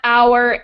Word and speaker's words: hour: So words that don't have the H sound, even though they're spelled with H, are herb, honor, hour, and of course I mentioned earlier, honest.